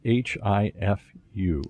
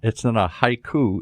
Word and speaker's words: HIFU: And HIFU is just like it sounds, H-I-F-U. Just like the Japanese spell it, yes. Okay. It's not a haiku. It's a HIFU here.